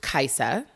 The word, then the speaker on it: Kaisa: great one yeah so my name is pronounced kaiser with us not a z and it's so funny